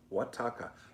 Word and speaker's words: Oaxaca: Oaxaca. Oaxaca. Is that how you say it? Oaxaca. In a million years, I would have never come up with that pronunciation, Naughty Bits, but thank you for that.